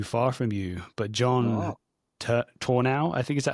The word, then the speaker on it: Tornow: Someone who lived, I think maybe in the area not too far from you, but John Tornow, I think, is that how you pronounce his name? Turno.